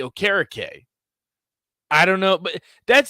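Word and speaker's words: Okereke: kind of did but people are like yeah no we're gonna say bobby okariki did that for the colts but it's actually bobby o'carrake i don't know but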